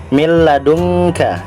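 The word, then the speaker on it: مِن لَّدُنكَ: tetapi tidak mendengung ya contohnya milladunka ya dia ke tumpukan bacanya minladunka tetapi dimasukkan ke dalam huruf lam jadi mi tetapi tidak mendengung tidak mile tetapi milladunka yang bingung ada yang ivanya ya Mil ladunka bukan mi atau mindlab kemudian apabila ketemu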